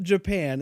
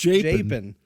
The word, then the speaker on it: Japan: jpin japen uh Missouri now that's spelled like Japan oh is but it's not Japan it's japen that sounds what's so